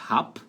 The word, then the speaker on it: hab: Letra B ali, então, vai ter som de P no verbo haben, então, ich hab, ich hab.